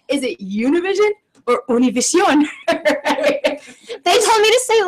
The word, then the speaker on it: Univision: And before doing the interview, Siobhan made sure to go over how to pronounce Univision.